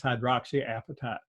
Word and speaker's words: hydroxyapatite: form of hydroxyapatite okay it took me a long time to figure out how to pronounce that it's hydroxyapatite okay that's calcium phosphate that's